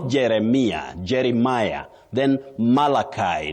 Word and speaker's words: Malachi: Then Malachi not Maliki.